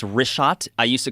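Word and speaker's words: Richat: Yeah, in the first couple, I just want to say it's Rishat. I used to call it Rikhat. I was mispronouncing it.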